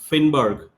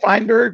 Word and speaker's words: Fineberg: So welcome to the show Sith Finnberg. Thank you. Uh yeah, it's it's Jeth Fineberg, but that's okay. Uh people um pronounce it. Um I've gotten I've gotten Finnberg.